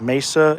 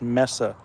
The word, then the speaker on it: Mesa: um and for those who pronounce Messa as Mesa it's really pronounced ounc Messa um because it's not spelled m a Ys